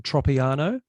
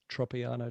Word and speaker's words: Tropiano: fresh that's for sure and your last name pronunciation tropiano yep on the money tropiano tropiano tropiano all right make sure this thing's